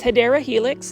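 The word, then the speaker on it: Hedera helix: And then here is another Heedra helix. Say it with me, plant foldies. Hedra helix or the correct way to say it is hideera helix.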